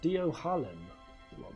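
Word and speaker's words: Dohalim: It's pronounced Dio Harlem.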